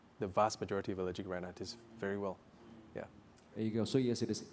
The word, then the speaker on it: rhinitis: Is it common for a child to suddenly develop allergic uh retitis at age 10? Did I did I pronounce it correct? Yes. Allergic rhinitis.